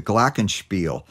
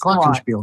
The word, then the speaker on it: Glockenspiel: the past 20 years, and that is the glockenspiel.